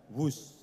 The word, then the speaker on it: Whoosh: sekali lagi w h o o s h tapi membacanya wus kereta cepat Jakarta Bandung